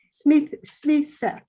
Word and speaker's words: Smythe: Smith.